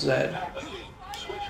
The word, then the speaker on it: Z: That's what the Canadians would have said it like. Because Z is pronounced Zed.